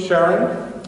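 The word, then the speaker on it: Charon: Pluto its big moon Sharon with soft CH or some people pronounce a little hard CH and after our proposal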